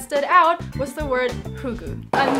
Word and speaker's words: Fugu: the answers that stood out was the word fugu. I'm not sure how to pronounce it.